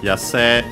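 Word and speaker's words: 野生: And yeah, first we have Yase, and yeah, as mentioned again, by the way, the usual E, usually pronounced as long E nowadays, some still pronounce it as A.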